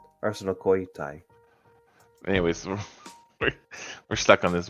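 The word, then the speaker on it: ἀρσενοκοῖται: Well, the one phonetic thing I saw was not very helpful because it was Arsenokoitai. Like, Arsenokoitai. With an accent on the koi. Arsenokoitai.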